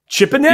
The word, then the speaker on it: Chipponeri: And we're back with Adam Chipponeri. I had to practice that a little bit, Adam. Chipponeri. I said, like a canary, but with a chip in front of it. Chipponeri.